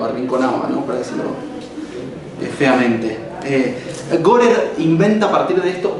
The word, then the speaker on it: Gorer: de un sociólogo británico que se llama Gorer, como suena.